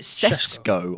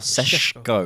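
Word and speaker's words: Šeško: to say his name is it cesco or Sesco it's shesco apparently do you remember laws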